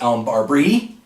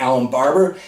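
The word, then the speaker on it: Allen Barbre: Allen barber who was formerly known as elm barbri yeah that's right but over the weekend we found out it's pronounced Alan Barber he'll be a left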